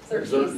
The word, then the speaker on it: Xerxes: If anybody knows how to pronounce that, let me know. Xerxes. Xerxes, thank you.